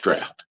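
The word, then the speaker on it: draught: That is spelled drought. It's pronounced draft is you're dealing with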